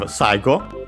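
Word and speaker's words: 最後: After that we have saigo, which means last, final. Literally we use the first, by the way, it's a Chinese compound technically, but this one is accented on the first syllable.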